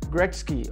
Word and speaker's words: Gretzky: I hope I don't pronounce the last names wrong. Sorry. Wayne Gretzky? Gretzky? Gretzky. Gretzky.